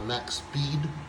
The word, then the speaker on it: Maxspeed: that we were trying to install and the max speed shifter that's how you say it that has